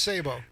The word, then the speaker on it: Sabo: commonly used in firearm or Cannon ammunition still pronounced Sabo and oh is it it's still okay Sable